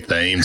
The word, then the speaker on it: Thames: Last name is pronounced Thames. It is spelled Thames. So is it really? Yeah, it Thames? is. But it's Thames like the river in England.